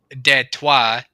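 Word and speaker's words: Détroit: But back in the really early days of like Fort Detroit, which is uh technically if you want to talk pronunciation, deto uh that's French for Detroit.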